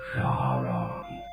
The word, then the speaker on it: Charon: My name is Sharon. Sharon? That's a girl's name. Not Sharon, you dullard. It's Sharon. That's Charon. Sharon. Now you say it. Charlene. No, you idiot. My name is Sharon. It's spelled Charon.